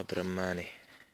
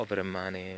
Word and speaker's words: برمانا: الساعه 10 الصبح هون المنطقه اسمها برمانه مو ابرمانه مثل تبعنا بس تبعنا احلى طبعا برماني